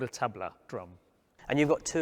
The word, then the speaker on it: tabla: These drums, it's a set of drums called Tabla. In India, I would pronounce them as Tabla, but generally when I travel around the world, I call them Tabla because that's how it's spelt in English.